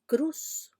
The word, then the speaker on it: cruz: Pero el hablante que pierde la S final no dice cruz, sino cru, la cru.